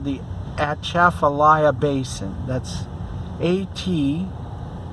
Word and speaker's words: Atchafalaya: yes it's called the atchafalaya basin that's at c h a a f a l y a something like that at chaffelaia that's kind of a cajun word pronunciation of i don't know